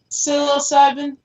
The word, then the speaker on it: psilocybin: Psilocybin.